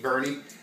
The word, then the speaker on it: Boerne: from born burn eat Bernie we're outside of San Antonio it's spelled like born but I guess what the Texas drawl it's called birdy my Barney tasted like